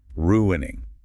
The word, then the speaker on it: ruining: Pronounce it clearly. Ruining. It is a clear three-cllable verb.